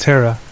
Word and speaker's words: Thera: My sister Thera, pronounced Terra, has always been a bit of a skeptic when it comes to ghosts.